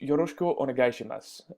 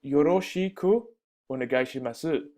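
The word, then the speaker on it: よろしくお願いします: hear it's it's pronounced yushko onim it's not Yosi orim masu so you will find that in the Japanese language many things are left out that is not necessary and it might be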